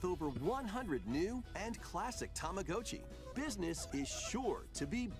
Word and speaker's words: Tamagotchi: You've got to pronounce the Japanese way, huh? Tamagotchi.